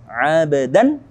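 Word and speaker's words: عَبْدًا: Abdan, di sini ada dal berharokat fathatain bertemu dengan hamzah. Nah, hamzah di sini hukumnya masuk ke dalam halqi, huruf yang keluar dari kerongkongan. Maka dari itu kita baca dengan jelas abdan i.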